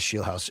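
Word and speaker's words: Scheelhaase: I think it is Shield House. Shield House. Yes, I'm looking up my Shield House is how you say it.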